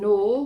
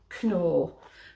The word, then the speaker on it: Knorr: incidentally in england this is uh the brand nor which is very very very popular in holland but it's pronounced knorr so the the k and the any like